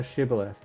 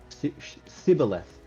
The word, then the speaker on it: Shibboleth: In this case, the Ephemerites' inability to pronounce the sh sound of Shibboleth because of the way that their language worked, meant that they were then identifiable to the Gileadites.